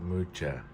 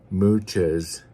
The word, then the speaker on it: Mucha: I believe that's how you say it, Mucha.